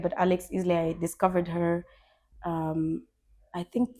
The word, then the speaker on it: Isley: I don't know if I pronounce her last name right, but Alex Isley, I discovered her, I think 3 years ago.